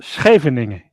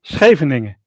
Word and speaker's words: Scheveningen: So it's Scheveningen. Okay. But the SCH, we say school, school. Schoenen, shoes.